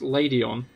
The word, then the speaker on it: Ledian: Lady in the anime is pronounced Ladyon. Huh. I mean, I guess it's a ladybird. But I could see Ledian.